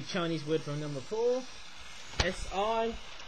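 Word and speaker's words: 四: word from number four s i almost sounds like the word sir but in si if you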